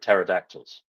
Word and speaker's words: pterodactyls: of funny but that's also true of pterodactyls uh that is very